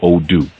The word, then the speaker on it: Odu: That mathematic, it expresses itself through something that we call Odu, which is spelled O-D-U, Odu.